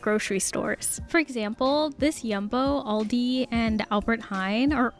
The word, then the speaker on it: Jumbo: This is Yumbo. Okay, I definitely can't hate on the the kitty counter, which I learned is not in fact pronounced jumbo, but yumbo.